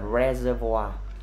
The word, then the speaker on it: reservoir: Ok, re, chữ này đọc là reservoir. Nó sẽ mượn của tiếng Pháp ha.